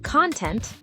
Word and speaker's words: content: Content, the stuff inside something versus content, feeling satisfied. Wow, I had no idea stress could change meaning like that.